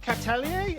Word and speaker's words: Catellier: In this episode of Revex Live, we're going to be here with Nick Catalier. Is that how you pronounce it? Yeah. Yeah, that's good. That's good. Nick Catalier from BIMPure.